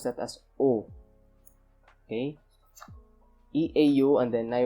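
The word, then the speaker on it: eau: in the same way as you pronounce you pronounce that as oh okay e-a-u and then i were not the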